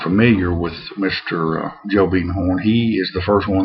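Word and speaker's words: Biedenharn: Monroe and two companies the family is the beaden horn family and it's spelled like Biden Horn uh but around here is pronounced beaten horn and U uh the story is originates with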